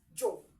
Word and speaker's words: yo: So yo is pronounced as jo.